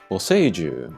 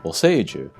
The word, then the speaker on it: Boseiju: Boseiju. Boseiju. This is another one where the center sound is kind of stressed because of the long vowel.